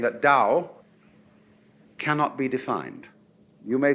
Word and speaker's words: Tao: We should have spelled it d o w you see but it's t ao.